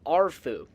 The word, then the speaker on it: Arefu: So if my Romanian pronunciation is okay, the proper pronunciation would be a fu. However, some of the characters in Fallout 3 simply say Arfu. Some of them say Afu, some of them say Arfu.